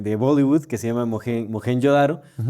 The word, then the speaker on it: Mohenjo-daro: Estaba viendo el que hay una película india que se de Bollywood que se llama Mohen Yodaro y justamente le llaman Mojen Yodaro, ¿no? Por eso sé que así se pronuncia porque pues estaba todo